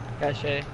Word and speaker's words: cache: No, but that took away your Steve Cash key. Cache. But he has another one because he just got three. Jacob, give me that phone, Jacob. Cache is cash. It can be pronounced either way, Sonny.